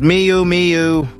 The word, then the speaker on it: Miu Miu: as large bows and intricate Embellishments Mi meu pronounced Miu Miu exudes youthful exuberance and sophisticated style but it's